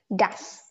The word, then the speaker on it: das: Dust. You pronounce it as dust. Without the T.